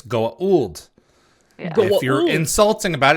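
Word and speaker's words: Goa'uld: versions sorry if you're correct about it it's Goa old yeah if you're insulting about it it's Gould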